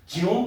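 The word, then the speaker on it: 지놈: 그걸 우리가 진혼 프로젝트 여러분들 일반적으로 개논 프로젝트로 들어봤잖아. 개논 프로젝트 진원 프로젝트라고 발음이 바뀌었죠.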